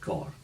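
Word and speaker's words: Coire: And Braemar Gaelic, Anstance Bay, you didn't pronounce the E at the end of C-O-I-R-E. Right. It was just Cor.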